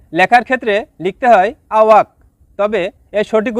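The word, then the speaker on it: tak: Number 4, তা, যার বাংলা অর্থ না। শব্দটি লেখার ক্ষেত্রে লিখতে হয় তাক, তবে এর সঠিক উচ্চারণ হবে তা।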